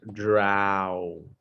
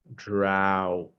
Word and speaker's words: drought: repeat it very good the pronunciation is drow drought drought drow drought okay